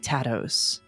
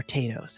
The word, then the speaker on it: tatos: bean stews, and fried tatos, or tatoes, however you want to pronounce it.